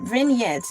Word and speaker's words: vignette: Vignettes. V I G ne Ts is pronounced vignette.